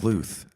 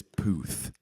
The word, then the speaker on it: Puth: What do you say? Puth? Pluth, because I hate that it's Puth.